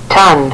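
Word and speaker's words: tonne: that one more time ton ton thank you thank you thanks all right so ton that's pronounced ton just like we would pronounce ton with t o n without this extra NE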